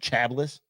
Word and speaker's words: Chablis: wine preferably a chabis is that how you pronounce that Chablis intervenes sh shab got it that's not how